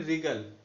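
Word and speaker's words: wriggle: या जैसे ये है रिगल, तो इसमें भी W ने रिगल, इसको क्या बोलते हैं, राइट।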